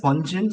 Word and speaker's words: Wonjun: My name is Wonjun. And my name is pronunciated as in one as in number one, June, May after June.